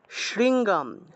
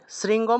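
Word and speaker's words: শৃঙ্গম্: ইয়া ইয়াথা মেরু গিরে শৃঙ্গাম শৃঙ্গম বলা যাবে না শৃঙ্গাম উময় গয় শৃঙ্গাম তয়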